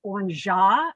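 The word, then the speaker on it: orgeat: add trader vic's and this is pronounced on jaw but it is a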